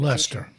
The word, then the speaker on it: Leicester: here in New England spelled that way, and it's pronounced Lester.